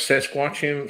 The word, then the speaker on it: Saskatchewan: How did you pronounce Saskatchewan?